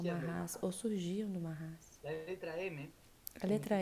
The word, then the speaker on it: MHS: Ou seja, MHS, que se pronuncia Mahas.